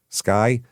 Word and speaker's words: SCCY: Uh Sccy Sky, that's how you pronounce it.